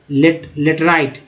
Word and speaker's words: laterite: तो क्या हम पढ़ेंगे, it looks yellow when it occurs in hydrated from लेटराइट, आई का उच्चारण आई के रूप में हुआ, लेटराइट सॉइल।